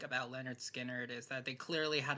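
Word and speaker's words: Lynyrd Skynyrd: One thing I really did like about Leonard Skinnard is that they clearly had a strong focus on the musical aspect of it all.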